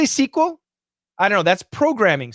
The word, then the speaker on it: SQL: just what everybody does the standard is sql it's appropriate in a